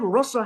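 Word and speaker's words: rasa: So in Sanskrit language there is a short a and a long a. So the word russa has a short a but when krishna does inela it is ras. Why? Because the word raas or the long a means ashwaden or tasting. So Krishna is always tasting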